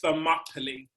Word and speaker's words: Thermopylae: with the t-h-e and that is pronounced thermopylae rhyming with properly but yeah we can